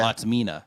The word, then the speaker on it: Autismina: Autisminas, I think is what it is. Yeah. Autismina, I think is how you say that. It's autism in combination with Mina, so Autismina.